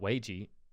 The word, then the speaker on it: Weiji: Pronounced Weiji. like whey protein. Weiji.